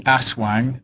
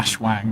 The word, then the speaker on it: Aswang: the the benefit of pronouncing the word correctly Aswang not a Shuang whatever you were talking